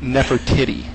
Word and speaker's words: Nefertiti: Yeah, that would be pronounced Nefertiti.